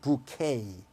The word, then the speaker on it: bouquet: 부케 영어로 발음은 bouquet. 프랑스어에서 온 발음은 뒤가 에로 끝나면 영어에서는 a라고 발음해요.